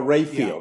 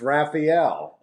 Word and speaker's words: Raphael: just started saying it's Raphael that's the way you know that's the way it's spelled and that's the way it should be pronounced so that's you know